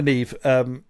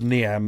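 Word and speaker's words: Niamh: So Commander Neve, whose name I said as Niam about 500 times, because that's how it's spelt.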